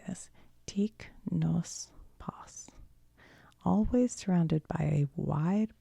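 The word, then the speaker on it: Teec Nos Pos: Tic nos pas. Always surrounded by a wide border and filled with an exuberant variety of motifs. Tis rhymes with geese. Tis.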